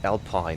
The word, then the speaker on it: Alpine: So, you know, this is written Echo Juliet Uniform, 12 Romeo Whiskey. But of course, you pronounce it Alpine, which is not self-explanatory. Not EU, but it's Alpine.